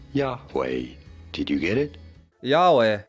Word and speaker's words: Yahweh: Y HW is the four-letter name of the Hebrew god spelled this way in Hebrew and pronounced uh wait a minute. Yahweh Yahweh.